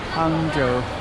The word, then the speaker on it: Hangzhou: I keep pronouncing it wrong. Hangzhou.